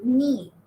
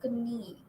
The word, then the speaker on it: knee: So knee, you don't say knee, you say knee. K is silent.